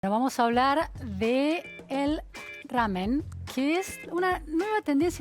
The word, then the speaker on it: ramen: muchas gracias a ustedes ramen o ramen muy bien como lo pronunciaste es ramen ramen cuesta pronunciarlo en occidente para nosotros en Argentina y es ramen de qué se trata